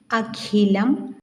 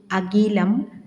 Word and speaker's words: അഖിലം: സുഖം, മുഖം, നഖം, ഖാദി, അഖിലം, ഖരം എന്ന് ശരിയായി ഉച്ചരിക്കുന്നതിന് പകരം നാം സുഖം, മുഖം, നഖം, ഖാദി, അഖിലം, ഖരം എന്നിങ്ങനെ തെറ്റായി ഉച്ചരിക്കുന്നതൊന്ന് ശ്രദ്ധിക്കണേ എന്നാണ് പറയുന്നത്.